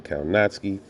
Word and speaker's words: Kownacki: so adam kawanaki which the real name the real way to pronounce his name is actually adam kaunatsky but i like the